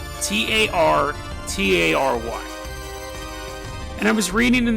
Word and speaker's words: Tartary: I'm probably going to mispronounce it, but it's called Tatary. Tartary.